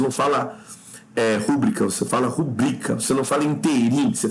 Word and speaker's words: rubrica: Agora não é rúbrica, é rubrica. Devem ser pronunciadas como oxítonas.